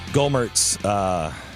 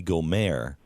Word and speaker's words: Gohmert: we just realized that his name probably is more correctly pronounced Louie Gohmert, and he's got some sort of a French connection to him, which explains why the